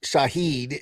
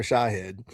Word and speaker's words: Shahed: the guy who who's always called Shahid instead of Shahed.